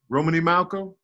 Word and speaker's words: Romney Malcolm: Romney Malcolm. Yeah, oh, Romney. I always put the L in the beginning. I mean, I always put L in the first name, but I always forget that it's ain't no L.